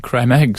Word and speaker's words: Creme eggs: There was an uproar about creme eggs switching to different chocolate. Creme eggs. Cadbury's creme eggs. Correct. That's the correct pronunciation.